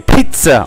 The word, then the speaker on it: pizza: So almost like a P-I-T-Z-A. Pizza.